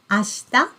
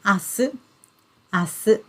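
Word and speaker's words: 明日: nice isn't it yes so we pronounce it ashta ashta or we also have the different pronunciation asu the same kanji characters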